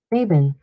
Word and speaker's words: Mabon: Mabon.